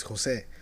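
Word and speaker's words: José: Like my person, the J for me, the J is Jose. But I got used to saying it Jose. Yeah, Jose. But it's Jose is the way they say it.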